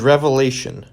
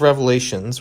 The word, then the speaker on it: Revelation: It is Revelation, singular, unlike Psalms, which is made up of individual psalms.